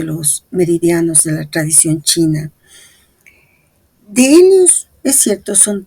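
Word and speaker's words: qi: q pero no olvidemos se pronuncia chi Qué designa dice la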